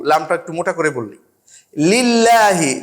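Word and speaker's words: لِلّٰهِ: একটু মোটা করে বলি লিল্লাহি লামটাকে পাতলা করে বলি এইরকম করে কিন্তু বাংলায়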